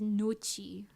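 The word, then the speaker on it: gnocchi: people are right no Noki no no the British people are right in Italian it says noi nooi I'm sure we're related in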